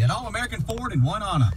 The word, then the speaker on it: Oneonta: It's, and actually it's Oneonta, but yes, no matter how you say it, All American Ford in Oneonta is the place to buy your next vehicle.